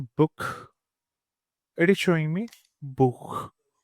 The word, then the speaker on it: Buch: So if I search for book, it is showing me Buch, Buch.